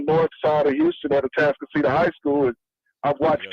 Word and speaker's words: Atascocita: Like, in a particular area that I'm in the north side of Houston at Atascocita High School.